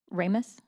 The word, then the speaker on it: Ramos: Ramos? Okay, thank you. People pronounce it differently. I didn't want to screw that up. We'll start again. Whereas Fire Chief David A. Ramos has served North Metro Fire District with distinction